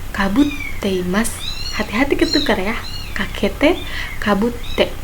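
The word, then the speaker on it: かぶって: Kakete, kabutte. Di sini T-nya double. Jadi dibacanya rada ditekan sedikit, kabutte, bukan kabute ya.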